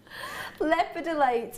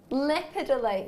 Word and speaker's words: lepidolite: say the way you're saying it and it's wrong leopardite um have a look at here lepidolite yes said pite liid it's lepidolite oh it doesn't matter